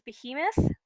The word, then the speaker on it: behemoth: actual okay so it looks like the actual pronunciation is behemoth but it's got roots in both hebrew and